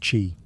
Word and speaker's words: qi: the flow of energy, or qi, pronounced qi.